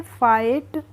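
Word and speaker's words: fight: को हम कैसे पढ़ेंगे एफ आई को पढ़ लेंगे हम फा और जी एच को हम पढ़ेंगे नहीं और टी का हो जाएगा ट तो इसको हम पढ़ेंगे फाइट और फाइट का मतलब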